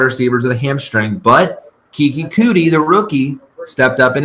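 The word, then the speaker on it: Keke Coutee: But Kiki Cootie, the rookie, stepped up in his absence. So Cootie. Yeah, Kiki Cootie. That's how you pronounce it. I'm pretty sure.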